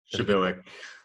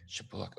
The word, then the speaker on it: Przybylak: Shabilik. Shoot, sorry. We use the Polish pronunciation, so. Got it. Wait, say that again. Say your name again. Shabilik.